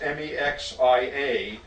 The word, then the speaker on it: Mexia: It's pronounced Mexia, but is consistently mispronounced by everyone who tries to pronounce it.